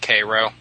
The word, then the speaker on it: Cairo: It's spelled Cairo, like Egypt, but they pronounce it Cairo.